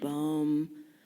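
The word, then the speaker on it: Bohm: of different ways and all the physicists Einstein bom that's how you say his name I never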